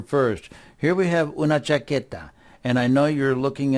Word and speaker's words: chaqueta: Because we're trying to preserve the K sound, or the hard C sound.